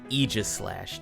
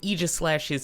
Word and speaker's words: Aegislash: going to be running Eis slash today and that's how I heard it pronounced in the anime so that's how I'm going to try to pronounce it throughout this video now